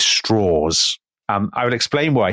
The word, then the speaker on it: Strauss: called Lewis well he's it's spelled Lewis Strauss but he always pronounces it Lewis Straws.